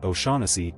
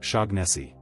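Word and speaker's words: O'Shaughnessy: In a lot of these names, the gh is not a hard g sound. It's either silent, softened, or it changes how the word flows. That's why okalahan isn't kigan and oanessy isn't shagessi.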